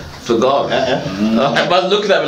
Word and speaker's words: Vergara: You say Viagra. Vergara.